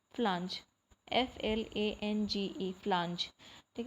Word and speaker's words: flange: इसको हम बोलते हैं फ्लांज, FLANGE, फ्लांज, ठीक है। इसको फ्लैंग भी पढ़ सकते हो बट फ्लांज करेक्ट प्रोनाउंसिएशन है, तो ड्रम फ्लांज बोलेंगे इसको, ठीक है।